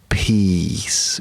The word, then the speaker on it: peace: And yes, that's peace with a long vowel sound. E, peace. Not a short vowel sound, because that would be words of piss, and that's never good, is it?